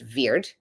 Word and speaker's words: wyrd: of the word word was originally wyrd pronounced veir which became the word